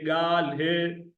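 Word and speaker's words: گالهه: ये अलिफ ज़बर गा, लाम जेर ले, हे जेर हे, गाल हे।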